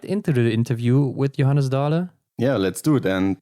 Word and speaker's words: Johannes Dale: If I should pronounce it in Norwegian, it would be Johannes Dale.